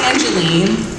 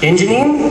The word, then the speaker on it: Angeline: My name is Angeline. Angeline? Angeline. Angeline. It's like Angelina, but I couldn't.